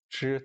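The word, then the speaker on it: 支: 우리 는 붓 , 펜 , 연필과 같은 필기구 를 가리킬 때 "zhī" 라는 단어 를 사용 합니다 . 첫 번째 성조 로 발음 됩니다 .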